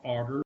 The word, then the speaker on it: agar: plate of a gelatin-like medium called auger that's spelled agar that's there are some